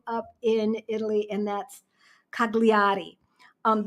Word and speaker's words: Cagliari: in Italy and that's cagliari um they don't pronounce the G I've never taken Italian